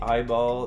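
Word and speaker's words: AI-ball: intelligence known as an eyeball uh when I say eyeball it's it's spelled AI dashball y also lost all of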